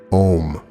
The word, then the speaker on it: Om: spell as ohm it is pronounced like home only without the h it is the closest